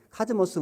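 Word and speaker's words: κόσμος: 코스모스 우주라고 하는 뜻이 카즈모스라는 뜻인데 카즈모스 원래 발음 카즈모스인데 이게 카오스 그 혼란하다 반대 개념이거든.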